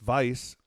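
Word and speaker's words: Weisse: A Berliner Weiss, pronounced Weiss, is a style made famous by its namesake city of Berlin, Germany.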